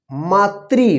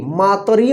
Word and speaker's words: मातृ: मातृ, मातरी मत लिखिएगा, मातृ।